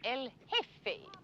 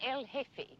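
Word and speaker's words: El Jefe: General Isimo Franco is called Elfe the chief. J E F E. The J is silent. Elfe.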